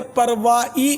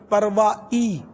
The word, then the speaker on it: پروائی: ہا، لاپرواہی بولتے ہیں، تو اصل تلفظ جو ہے اس کا پرواہ، اس کو پرواہ نہیں ہے، پرواہ نہیں ہے، یہ ہا، یہ اصل تلفظ میں ہا نہیں ہے، اور پرواہی نہیں، پروائی، حمزہ اور یا، پروائی۔ اور لا پروائی، لا